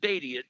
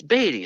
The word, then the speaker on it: Beatty: That's it, Beatty, like Ned Beatty. I Yeah. forgot. Mm-hmm. That's right. Because we looked at it, we were pronouncing it Beauty first, but it's Uh like, huh.